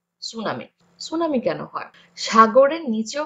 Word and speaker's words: tsunami: আমরা টিটা উচ্চারণ করব না, সুনামি।